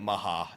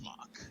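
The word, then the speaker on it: Mhach: city of mock I really prefer calling it Maha even though I'm not Japanese we we we've determined the name I know determined the pronunciation it's Mach yeah but in Japanese it's Maha so like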